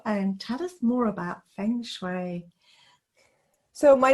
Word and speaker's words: Feng Shui: Feng Shui. So, Jillian, come and tell us more about you. Introduce yourself and tell us more about Feng Shui.